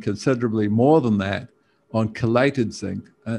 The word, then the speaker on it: chelate: Chelation, basically, well, the word chelation or chelate, you might say chelate, but it's actually pronounced chelate for some reason, means chlor, you know, the word chlor in Greek.